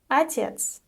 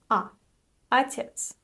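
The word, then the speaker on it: отец: the next word is atet atet the unstressed O is pronounced as AET AET so you know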